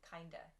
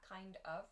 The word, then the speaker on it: kind of: vietnamese food for dinner you'll also notice that the pronunciation there changes to kinda kinda not kind of but kana depending on the way the sentence is made though kind of can